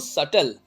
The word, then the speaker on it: subtle: तो यहाँ लिखा है कि बट स्टिल more serious because more सटल. सटल मतलब सूक्ष्म होता है, इसको सटल पढ़ेंगे, बी इज साइलेंट हियर.